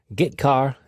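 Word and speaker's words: getchar: i o functions are git car and put car that's how i pronounce them git car fetches a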